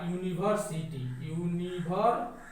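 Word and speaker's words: university: कि यह गलत है, क्योंकि इसका अगर हम उच्चारण करेंगे तो इसका उच्चारण हो रहा है आपका यूनिवर्सिटी। तो इसका जो पहला अक्षर है वो क से लेकर ज्ञ के बीच में है, तो इसलिए यहाँ पे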